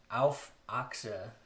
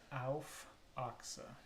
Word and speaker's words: Auf Achse: Can you pronounce that one more time for me? Auf Achse. Auf Achse.